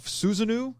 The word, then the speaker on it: Susanoo: there's the myth of susanoo or susano i've heard it pronounced a couple different ways the storm god he